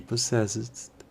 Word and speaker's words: possessed: Even when he was only 10 years old, he possessed extensive astronomical knowledge. En este ejemplo, para la correcta pronunciación de la palabra poseía, en inglés possessed, la D del final debe sonar como una T.